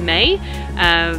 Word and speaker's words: meg: So say for example, in Bergen, they will say Meg instead of May.